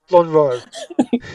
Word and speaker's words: Lonhro: I'm going to try and pronounce this right just once. Lonhro? Lonhro. Yeah, the second time you got it. Yeah. Lonhro. Okay, so Lonro.